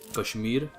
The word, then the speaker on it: Kashmir: Free Kashmir by the way. Or as they would say in a more Indian pronunciation, Kashmir.